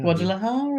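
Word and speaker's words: Guadalajara: and Cheryl's from my favorite place that I pronounce always well guadara did I say it right that time guadara yeah guadalahara that was a good effort it was a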